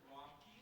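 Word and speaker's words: Ramki: This is Representative Romkey. That's spelled R-A-M-K-I for my judges.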